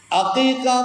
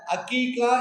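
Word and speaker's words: عقيقة: ஒரு தடையங்கம் என்னென்ன என்ன அக்கீக்கா குறித்து மார்க்கம் என்ன சொல்லுகிறது நிறைய பேர்கள் அந்த அக்கீக்கா அப்படிங்கிற வார்த்தையை கூட அக்கீக்கா அக்கீக்கா என்றுதான் சொல்லுகிறார் அந்த ஐன் என்கிற எழுத்து அலிபாக மாறி போகிறது. முக்கியமான உச்சரிப்பு அது.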